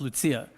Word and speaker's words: Lucia: And her name is Lucia, right? Pronounced Lucia.